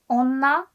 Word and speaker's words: 女: So this kanji is pronounced like onna for kunyomi, the Japanese reading.